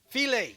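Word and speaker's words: filé: Filet, yes, it's like, it's spelled file, but it's filet.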